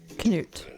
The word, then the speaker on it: Canute: King Canute. It can also be pronounced as Canute. Canute.